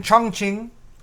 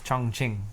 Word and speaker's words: Chongqing: So over in Chongqing. Chongqing. No, it's Chongqing. No, it's Chongqing. Really? Yes. Is that a Q? Yes. Q's are pronounced like C's. Q is pronounced like a ch.